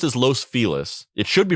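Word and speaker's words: Los Feliz: Angeles it's pronounced as Los felis it should be pronounced as Los fiz that's how you say it in Spanish but they they call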